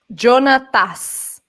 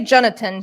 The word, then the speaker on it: Jonathas: their real name again jonathan something jonathas he has an ass at the end jonathas you can say jonathan since juan hebert is